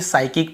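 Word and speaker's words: psychic: पर भी हम देखिए साइकिक पढ़ते हैं पी को यहां पर भी नहीं पढ़ते यदि एस के पहले पी हो तो नहीं पड़ते वैसे निमोनिया वगैरा भी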